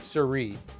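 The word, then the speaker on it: Sirui: them better than anyone else and they're called Sir that name is a little tricky to pronounce but apparently that's how you pronounce it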